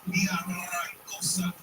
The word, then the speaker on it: Villaraigosa: Roll your R's. Roll it right. Antonio Villaraigosa used to be mayor here in Los Angeles.